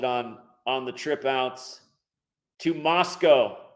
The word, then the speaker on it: Moscow: And I'll keep you posted on the trip out to Moscow. That is the real right way to say it.